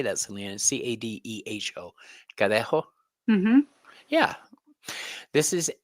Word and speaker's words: Cadejo: Cadeho.